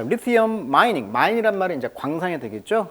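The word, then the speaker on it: lithium: 근데 영어식 발음은 이제 리티엄 이렇게 발음하네요. 리티엄. 자, 리티엄. 자, 리티엄. 발음을 좀 조심하시고요. 영어식 발음은 리튬은 한국식 발음, 영어식 발음은 강세가 이음절이 있습니다. 그래서 리티엄 이렇게 발음하고 있습니다.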